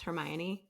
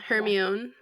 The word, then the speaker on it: Hermione: were all trying to figure out how to pronounce Hermione. Yes. Mhm. No Yes. one said that correctly until we No. heard the audio version. Yeah. Yeah, Yeah. Hermione.